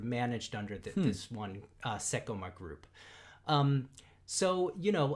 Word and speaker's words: Seicomart: culture yet again um so seiko mart the parent company is is called sekoma um and you know